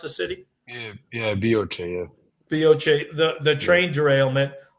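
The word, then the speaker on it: Bioče: Is Bioce, is that how you pronounce the city? Yeah, Bioce, yeah.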